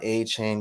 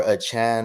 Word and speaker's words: Achane: and we got Devon a chain guys or a Chan right they the he requested that we pronounce it at Chan so Devon a Chan or a Chan he outstands monster guys